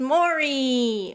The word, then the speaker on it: Maurie: enjoying them so far uh today's character is mori or yeah yeah that's how you pronounce her name yes you know i'm still